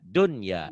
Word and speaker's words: dunya: Jadi jangan buyanun, jangan duya, dunya dibacanya jelas. Ya, Jelas ya, Pak. karena ketemunya satu kalimat, satu kata, satu rangkaian.